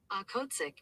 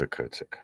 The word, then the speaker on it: Okhotsk: Okhotsk. I think it's Okhotsk.